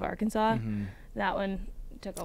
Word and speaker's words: Arkansas: in social studies, and she said Arkansas instead of Arkansas.